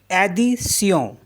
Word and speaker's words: addition: ADDITION, इसको क्या पढ़ेंगे हम, एडिसियों, एडिसियों, एडिशन।